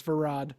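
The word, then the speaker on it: Verad: I said his name wrong too. It's Varad.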